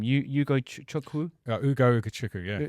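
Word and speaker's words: Ugo Ugochukwu: Ugo Ukachukwu. Yeah. Ugo Ukachukwu.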